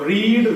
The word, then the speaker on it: read: Direct main verb second form, तो रीड रेड, second form spelling same, लेकिन आपका उसका जो प्रोनाउंसिएशन है वो रेड।